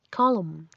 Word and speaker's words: column: no saber mientras que la n se vuelve muda después de la m como en autum otoño colum columna otros cambios en la